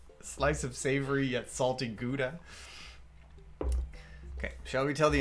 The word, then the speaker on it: Gouda: pronounce that yeah because gouda it's nice that that's cheese but it's also it's a cheese because it's from a city in the netherlands you're supposed to say